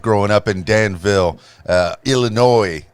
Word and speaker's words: Illinois: in danville uh illinois wait is there noise in illinois is there no noise is that it is okay all right me being a bobo i i probably pronounced it illinois a time or two but growing up in